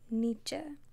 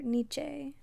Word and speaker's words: Nietzsche: a little bit about Nietzsche or Nietzsche his name is pronounced a couple of ways so this semester